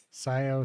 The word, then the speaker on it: Scio: at the texturing part you can consider the C silent you're done no you're not Scio 3D okay that makes sense the C is silent also let me let